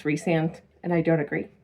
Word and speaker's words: Rhysand: Like I still call him Rhysand because R H Y S is Rhysand, Rhysand. But apparently it's Rhysand and I don't agree.